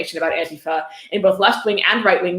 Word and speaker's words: Antifa: Antifa. Pronounced Antifa. He spells it out, so you're sure to pronounce it Antifa. Not Antifa, Antifa.